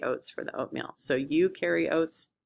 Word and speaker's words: eukaryotes: The two types of cells we're going to talk about are eukaryotes and prokaryotes. Eukaryotes is pronounced like you over there carry the oats to make oatmeal. You carry oats.